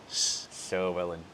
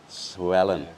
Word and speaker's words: Llywelyn: So the double L in Welsh is pronounced as Llywelyn. Llywelyn.